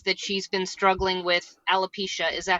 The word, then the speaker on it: alopecia: show several times that she's been struggling with alopecia is that how you say it yeah right